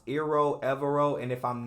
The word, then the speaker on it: Evero: Broncos defensive coordinator I believe it's pronounced iro evero and if I'm not pronouncing that uh correctly I sincerely apologize I do not want to butcher anyone's name but I do know that everoe is correct so the new hire of DC